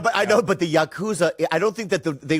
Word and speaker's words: Yakuza: to be rude but you're pronouncing it wrong it's Yakuza your cousin it's your cousin your cousin I didn't